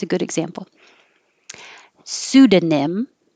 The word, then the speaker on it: pseudonym: it's a good example pseudonym or you can get rid of the da and just say sudan pseudonym or this is probably easier with the d pseudonym it means fake